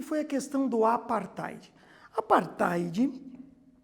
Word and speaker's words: apartheid: Apartheid, que se escreve ali, ó, também diferente, ó, A-P-A-R-T-H-E-I-D, apartheid.